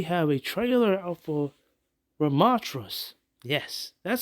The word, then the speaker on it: Ramattra: OverWatch news we have a trailer out for ramatras yes that's how you pronounce his name ramatra rub Matra yes and we have a trailer Gameplay trailer